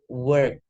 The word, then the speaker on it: work: Bekerja itu pakainya e. Terus ada slightly R di situ. Work pakai e. Jadi bekerja itu e, berjalan itu o.